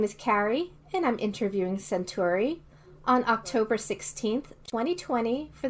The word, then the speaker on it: Senturi: choose this name for yourself okay so it's pronounced century and honestly i have no idea why i